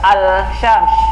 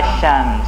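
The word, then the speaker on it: الشمس: Asyams, tidak al-syams, tapi bacanya apa? Asyams.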